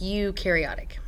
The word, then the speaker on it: eukaryotic: is eukaryotic cell so even though it starts with an E you ignore the E and it's pronounced eukaryotic so eukariotic cell is a cell